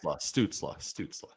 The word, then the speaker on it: Stützle: Stützle. I'll help you out there. Stützle. That's how you pronounce it, Stützle.